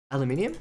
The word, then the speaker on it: aluminium: How do you pronounce it? Actually, I don't know where you're from, Brady Bread. So, depending on where you're from, aluminium. Thank you, that's the right way.